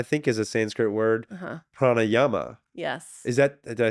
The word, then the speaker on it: pranayama: in my mind um the like the two vowels are long like PR Yama I don't think that's right so I'd actually have